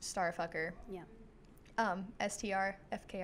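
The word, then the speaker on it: STRFKR: there's my star just it's just letters it's yeah but it's pronounced star yeah Str FK r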